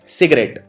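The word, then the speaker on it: cigarette: अगला शब्द है सिगरेट।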